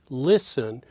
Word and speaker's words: listen: to the following listen listen those two syllables are higher pitch that is stressed syllable lower pitch unstressed syllable I want you to